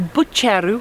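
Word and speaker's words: Buggerru: So we now have made our way to Bucheru, which is how it's actually pronounced, and it's an old mining village, and we're going to head up up there somewhere.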